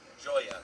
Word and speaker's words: Julia: Julia that's how you say her name joy at like joyous joy if you